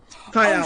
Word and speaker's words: Tael: And at the end of the room, Tael, is that how you pronounce it? Yep. Tael.